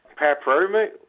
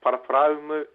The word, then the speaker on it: Paraparaumu: Classic ones, I think, have to be ones like Paraparaumu, which is Paraparaumu, Ngaio, Ngaio, Ararua, which is Ararua.